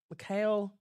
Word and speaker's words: Mikhail: Mikhail. Yeah, you said it right.